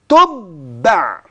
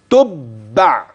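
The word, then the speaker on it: تُبَّع: تقف على قوم قوم تبع يبقى الباء عندي مشدده والتاء مضمومه والعين ساكنه اصل الكلمه ممكن تقراها شيء تاني لا اسمع النطق السليم تاني تبع كده ده لو وقفت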